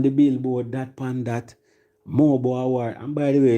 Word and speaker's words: MOBO: It's Mobo. And it stands for Music of Black Origin. Many people say mobile.